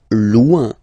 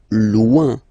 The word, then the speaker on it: loin: Loin. Loin. So remember when you get this combination O-I-N, it's ouin, ouin, ouin, okay? Loin.